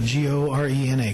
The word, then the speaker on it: Gorena: Could you, because I've heard a lot of different people pronounce. Gorena, G-O-R-E-N-A.